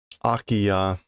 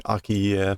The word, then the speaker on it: 空き家: 他の I've been pronouncing this Akiya, but now this is like own reading form. Huh? Hmm. Kuke. It is not that. Akiya is the pronunciation. I think I was saying akiye, but that sounds similar.